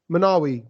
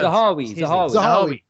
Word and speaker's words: Zahawi: Manawi. Am I saying it right? Zahawi.